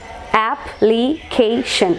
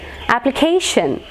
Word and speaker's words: application: it application application application so shen is the last syllable final syllable pen ultimate syllable means a syllable that precedes the last one so stress will be marked over here k application application application k is stressed next word edge again